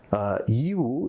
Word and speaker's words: Yiwu: Yiwu, if you pronounce it with English, but I think maybe I like to say I am a bendi, which means a local. So I started pronouncing it in the right way, Yiwu.